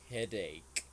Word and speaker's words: headache: well it was excellent just be careful with the pronunciation of this one this is headache ache okay headache aome okay students